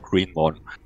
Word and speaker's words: Gréénmon: Du sagst auch Greenmon. Moon. Nick Mon, also M-O-N, von daher Mon, Green Mon.